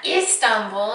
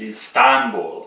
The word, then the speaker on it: Istanbul: Just for interest, in Turkish, when you pronounce a name, you put the emphasis on the second syllable. So it's not like I said yesterday and he got really irritated, Murat. It's not like that, it's Murat, and right? It's not Istanbul, it's Istanbul. Good job.